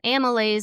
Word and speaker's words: amylase: And amylase is, I always like to remind people, it's spelled Amy Lays down next to cats, amylase.